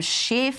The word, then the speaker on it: Schiff: breaking news on Adam Schiff. See, the way she says Schiff, it really does sound like you know what. So I kind of like the Australian pronunciation of Schiff. It's very good.